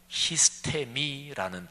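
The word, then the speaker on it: ἵστημι: 근데 오늘 여기 에베소서 6장에 나오는 4번 걸쳐서 반복돼 나오는 단어, 이게 헬라어로 히스테미라는 단어인데 발음을 그렇게 하는데요.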